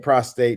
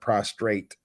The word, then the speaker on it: prostate: It's prostate, and I'm saying prostate, not prostrate. Prostate. I was saying it wrong too.